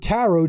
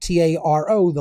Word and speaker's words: tarot: it's a phonetic equivalent t a r o the last T is silent then a r o